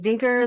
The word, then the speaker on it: Vinkeer: said we have vinker I'm saying it right right yeah it's vinker that rhymes with stinker so always remember good